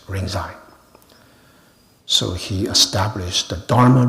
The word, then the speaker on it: Rinzai: Another one is Lingji, which is pronounced in Japanese Rinzai.